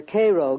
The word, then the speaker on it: Cairo: soil in and around Cairo or Koo giving it the Illinois pronunciation resembles that of its